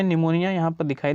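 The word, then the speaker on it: pneumonia: निमोनिया। यहाँ पर दिखाई दे रहा है आपको निमोनिया। निमोनिया में देखिए आपका क्या है, पी साइलेंट है, पी आपका क्या है, साइलेंट है।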